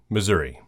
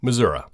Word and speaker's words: Missouri: Number 30, Missouri, or Missouri. Now, normally you can ask the locals how something is pronounced, but in this state, even they cannot come to a clear consensus.